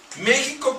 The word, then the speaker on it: México: Miren, aquí dice, México con X suave, como lo pronuncian los indios, significa donde está o donde es adorado Cristo.